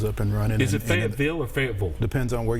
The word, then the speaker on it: Fayetteville: Did I say Fayetteville? No, you said it. You said it right.